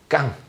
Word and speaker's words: 강단: 강단. 이렇게 발음하면 좀 어감이 잘 와닿지 않습니다. 강단. 깡입니다. 깡.